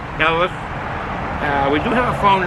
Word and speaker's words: Helles: That's pronounced H-E-L-L-E-U-S, HELLES.